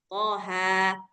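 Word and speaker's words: طه: Jadi bacanyaqo gitu thaha. Tapi kalau ee yang ujung-ujungnya E itu dia pakai riwayat lain. Mungkin riwayat Waras atau riwayat Hamzah atau Alkisai. Banyak ya banyak banyak qiraat, banyak riwayat. Jadi mereka bacanya th yak gitu gitu. Nah, kita enggak pakai yang itu.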